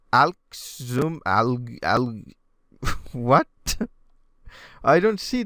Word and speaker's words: Alxum: I was told that this is read as awesome or well pronounced as awesome but I I don't really see this so how does this work it's Alex zoom al-ahly what I don't